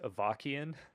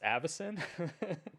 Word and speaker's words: Avacyn: Yeah, when I recently did a deck that used Avakian, and I swear that I angered so many people. So many people were mad about that because it's Avacyn. Sure. They're like, Avakian, it's pronounced opposite.